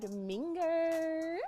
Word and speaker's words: Minger: I was just It's Minger. It's spelled like finger. It's Minger. Yeah. It's spelled like ringer, singer, dinger, binger, all those things.